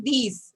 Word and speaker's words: dix: And you know, Shivan, so this is these. Okay, these set, not dix. So although you see D-I-X, but how you are going to pronounce it? These.